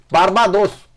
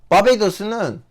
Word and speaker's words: 바베이도스: 바르바도스. 한국말로 뭐지? 한국말로 발음을 보자.